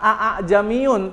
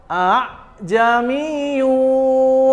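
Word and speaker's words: ءَأَعْجَمِيٌّ: Memasukkan hamzah yang kedua kepada hamzah yang pertama. Jadi, gimana bacanya? Bukan aa jamiun tapi a jamiiyunu wa arabi.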